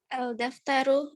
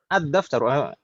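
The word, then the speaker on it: الدفتر: Ad-daftaru bukan al-daftaru. Karena huruf dal adalah huruf syamsiyah. Huruf syamsiyah. Ahsanti, dal itu huruf syamsiyah, maka harus dibaca langsung idgham lamnya. Ad-daftaru.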